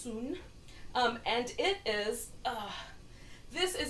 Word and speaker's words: Sun: a style called the soon style it's spelled like Sun s UN but pronounced soon and it is this